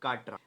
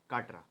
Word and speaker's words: Katra: That is काटरा। I think I am pronouncing it right, it इज KATRA, काटरा।